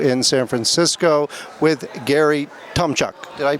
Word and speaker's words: Tomchuk: founder and CEO of Impact Entrepreneur, and we're at SOCAP22 in San Francisco with Gary Tomchuk. Did I pronounce that correctly?